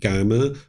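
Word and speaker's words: kamma: So there's not just one right way to pronounce it, but I would suggest you use the word GMA rather than karma because karma is from the Sanskrit language, but karma tends to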